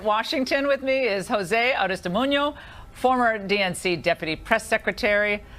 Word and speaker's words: Aristimuño: And here in Washington with me is Jose Aristimuño, former DNC deputy press secretary. I love saying it, Aristimuño. I like saying it correctly.